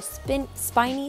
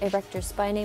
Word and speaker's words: erector spinae: feeling this muscle last we have the erector spinae or spent spiny some people like to say I pronounce it erector spinae muscles spinal erectors is